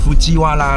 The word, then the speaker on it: 藤原: 藤原是怎么念？夫基瓦拉啦。